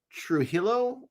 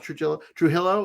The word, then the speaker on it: Trujillo: i read this because josh trujillo i think is how maybe you say his name not true true hillow is uh he is